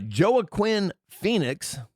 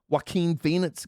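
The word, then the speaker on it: Joaquin Phoenix: Uh Joah Quinn Phoenix. Yeah, that's how it's pronounced actually. Joah Quinn. It's not WAQ. What? Walk. What? What the hell is his name? Waqen Phoenix.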